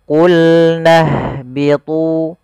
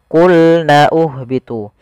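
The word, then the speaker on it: قُلْنَا اهْبِطُوا: qulna lamnya tipis qulna Qul nahbitu di sini kita langsung ke huruf ha yang disukunkan Jangan sampai kita membacanya qulna uhbitu pada lafal ini ini tidak dibaca qulna uhbitu tanda yang seperti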